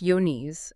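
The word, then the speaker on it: Johne's: It's exactly that kind of hidden threat we're diving into today, John's disease, and that's pronounced yon, uh, also known as peruberculosis.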